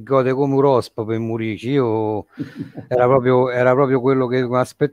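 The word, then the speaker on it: Muriqi: Allora, Stefano ci ha detto che si dice Murici, io pure lo chiamavo Murichi, in realtà la pronuncia è Murici.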